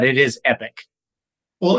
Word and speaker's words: Epique: Is it So Epic, a peak, Epic Q? What's it the it is epic. It's a French spelling. I don't know why they created EPIQUE, but it is epic.